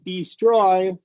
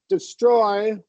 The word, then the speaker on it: destroy: refer predict destroy behind it messes with the timing if you do long e if you say destroy instead of destroy you See how the second one sounds more fluid.